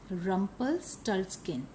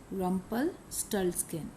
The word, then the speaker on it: Rumpelstiltskin: Rumpelstiltskin. Rumpelstiltskin.